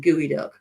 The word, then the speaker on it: geoduck: yes indeedy all right geoduck is pronounced gooey duck is